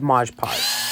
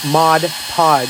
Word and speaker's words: Mod Podge: I'm going to add Modge pod Modge pod to mod podge I never say it right to the canvas and